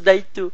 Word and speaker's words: daito: qui vont dire mais On dit un daito. ça se prononce daito.